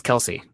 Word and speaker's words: Kelce: And I didn't want to, so the E is silent on Travis Kelce. But his brother says it's Kelsey.